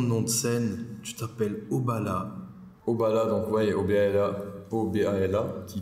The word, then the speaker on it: Obala: Nom, prénom, nom de scène, tu t'appelles Oubala.